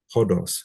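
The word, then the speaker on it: ὁδός: So feminine definite article, this word is hodos. So we have an omicron with a rough breathing, which means we pronounce it as if it has a H.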